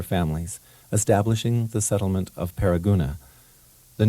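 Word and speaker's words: Paragonah: Although the modern-day spelling has dropped one of the two O's, Paraguna is still pronounced by locals with the double O's.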